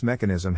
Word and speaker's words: mechanism: Phonetic Alphabet to pronounce mechanism have in mind that the size of the syllable indicates where the accent or stress is in this case the accent is in the first syllable corresponding to Mac below